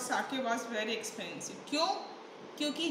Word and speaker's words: sake: It is not sake. Spelling sake की भी यही होती है, ऐसे की ही, पर यहाँ पे आप इसको pronounce करोगे sake. एक जैपनीज ड्रिंक होता है और इसकी प्रोनंशिएशन होगी साके, ठीक है?